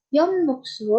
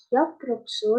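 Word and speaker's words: 엽록소: Kebanyakan mahasiswa melafalkan Yomnokso menjadi Yoprokso dan juga Tamye menjadi Tapri.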